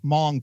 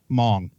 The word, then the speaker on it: Hmong: Hmong. Spelled with an H. The H is white silent.